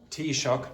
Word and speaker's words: Taoiseach: For those who don't know, the pronunciation of that is sort of the closest English pronunciation would be that. Taoiseach, that's the Irish Prime Minister.